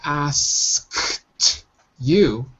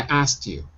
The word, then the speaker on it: asked: to blow out as so we don't say i asked you we say i asked you we dropped a k so it sounds like